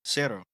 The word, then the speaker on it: cero: How do you say zero officially? Cero.